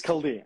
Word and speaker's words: Chaldean: Is that because I pronounced it poorly? Yeah, it's Chaldean.